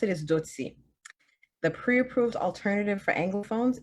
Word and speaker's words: Dotie: is daddy joseph so my first name is a little tricky because it only has one t the real way to pronounce it is dotsi the pre-approved alternative for anglophones is dottie like lottie dottie because